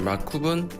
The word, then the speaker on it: 마쿱: 예, 마쿱은 만리동 예술인 협동조합 M 하고 A, 그다음에 COOP 해서 마쿱 이렇게 그냥 약어를 그냥 발음을 붙여서.